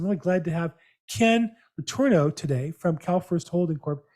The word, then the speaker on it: Letourneau: How close was my pronunciation on your last name? Very, very good. Right, 100% on the button.